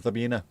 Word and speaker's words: Sabina: It's supposed to be the way you pronounce it though, isn't it? S is Z normally or sh. Bina, Zabina.